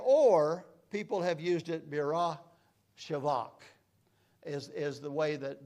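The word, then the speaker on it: Beersheba: here Bersa all our lives we've called it Bersa but it's actually split up to B shivak and or people have used it Birra shivak is is the way that the name is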